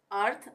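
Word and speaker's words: earth: अर्थ, अर्थ में भी एक साथ आ रहा है टी एच, तो ये भी हो गया अर्थ, थ का उच्चारण हो रहा है।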